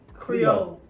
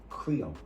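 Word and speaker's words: Krio: Creole. Listen to it. Creole, not Creole. Okay. Creole is spelled K-R-I-O, not Creole, C-R. okay.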